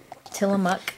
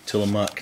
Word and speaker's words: Tillamook: ice cream attila how do you say it till a muck til a muck it's not mint chocolate chip it's my favorite